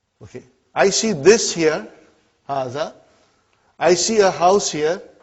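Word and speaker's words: هذا: See, it is pronounced like Haza. But this alif is not written. It is explained in the key also. So it is Haza.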